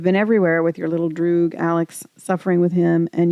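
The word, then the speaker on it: droog: Also, it is pronounced Drew because if it were Dutch it would be Drogue.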